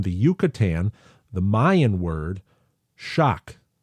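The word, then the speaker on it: xoc: But what Andrew is saying is that the theory that it was derived from the Yucatan, which was a Mayan word, pronounced shock.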